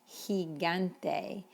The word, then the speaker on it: gigante: is different in spanish in fact when it's followed by the letter e it's an h shot like generoso or gigante and this example is